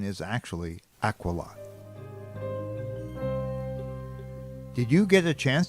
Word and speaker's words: Aquila: Now you might know this constellation as Aquila, but the correct pronunciation is actually Aquila.